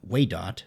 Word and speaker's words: Waydot: Anyway, I named my character, which coincidentally rhymes with my name, Waydot, so it actually worked out pretty well.